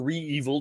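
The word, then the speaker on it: REvil: successful ransomware groups um are evil or reevil depending on how you want to pronounce it uh they were targeted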